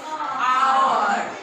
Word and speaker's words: hour: Hour. Here we use N. Because though here the letter is A, but the pronunciation is our.